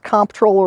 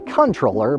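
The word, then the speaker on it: comptroller: And is it pronounced comproller or controller? Believe it or not, it's actually controller, but either way works.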